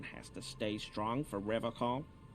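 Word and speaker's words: Revachol: to stay strong for rev call he pronounces revon with a hard K unlike other people no no I help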